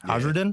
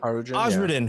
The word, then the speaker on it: Osradin: That's how you pronounce it? Osradin? Yeah, you got it. You got it. Osradin, who had the most cause to hate Loki for his actions.